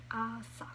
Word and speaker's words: 아싸: Here we have insa and asa. That's how you pronounce it.